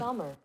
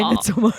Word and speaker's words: Midsommar: Um Midsommar. Okay. That's how you say it. Interesting. Sounded like Midsommar. It said summer, yeah. Okay, well I guess I never have to say Midsomar again.